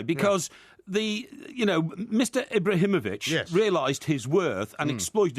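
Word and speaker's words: Ibrahimović: Ibrahimovic, not Ibrahimovic. Yes, Ibrahimovic for that pronunciation of his name.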